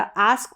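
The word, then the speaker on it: ask: है चलिए आगे देखि आस्क या आस्क पढ़ेंगे या एस्क दोनों तरीके से मोस्टली हम आस्क करके इसको पढ़ेंगे जैसे मास्क हो गया टास्क हो गया एम का उच्चारण म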